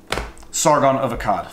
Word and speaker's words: Sargon of Akkad: cat or a Cod I don't exactly know how to pronounce that let's just figure it out right now hey Siri pronounced Sargon of a cab Sargon of Akkad Thank You Siri Sargon of Akkad